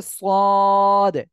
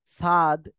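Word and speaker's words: صاد: করবেন দেখেন এই যে সদ এ অক্ষরে কিন্তু অনেকে অনেক ভাবে বলে সদ বলে কেউ কেউ বলে সাদ অনেক রকম উচ্চারণ করে এর সঠিক উচ্চারণ হবে কি যে অক্ষরটা একটু মোটা আওয়াজ হবে সদ ঠিক আছে ওকে আর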